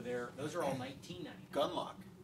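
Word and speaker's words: Gunlocke: Gunlock. Gunlock, yes. Yeah, with an E. So you know that when you have an extra superfluous E that you don't pronounce, it's expensive.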